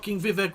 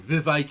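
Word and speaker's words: Vivek: now Viv Ramos sorry Vive it rhymes with cake Ramos Swami a brown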